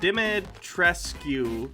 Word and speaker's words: Dimitrescu: Pronounce her name. It's Dimitrescu. Dimitrescu. I don't know. Yep, 7 days. Cool. How's Cassia doing, Baja? Dimmadome. I'm Doug Dimmadome, owner of the Dimsdale Dimmadome. Demetresk.